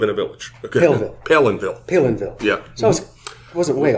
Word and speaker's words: Palenville: people say Palenville it's Palenville okay it's not Palenville or it's p Palenville like I'm pale and I live in a village pville Palenville Palenville yeah so wasn't